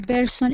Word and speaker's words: person: Showing that you understand what another person is feeling.